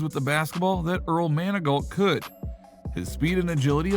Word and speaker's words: Manigault: high school teacher who constantly mispronounced his name as Man-a-goat instead of its correct pronunciation of Manigault.